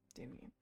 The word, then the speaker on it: Demian: Demian Damian. Two two syllables, not three.